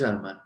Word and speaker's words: Harman: Yeah, but in name we have to use that H. Yeah, telling see, for example, my name is Harman. Yeah. ठीक है, my name is Harman.